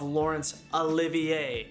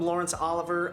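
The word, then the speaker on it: Laurence Olivier: video pretty quickly is i screwed up the pronunciation of lawrence olivier i kept calling him lawrence oliver i didn't want to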